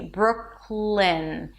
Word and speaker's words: Brooklyn: And then from the K sound that is in the back of your throat. You move to the L immediately. Brooklyn. You don't release the K. It's not Brooklyn. Brooklyn. You release it into the L.